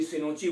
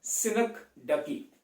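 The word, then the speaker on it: synecdoche: I don't know इसको अलग अलग नाम से लोग प्रोनाउंस क्यों करते हैं, कोई सिनोची बोलता है, कोई कुछ बोलता है। सिंपल है, सिनेक्डकी। सिनेक्डकी का मतलब क्या होता है?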